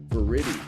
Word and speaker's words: Viridi: it right on it ver is a a Latin word and you might be one of the only people I spoken to have pronounced it properly so thank you that's because